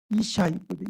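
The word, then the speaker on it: ישי: 여러분 이세의 발음은 정확하게 이샤이거든. 이샤이.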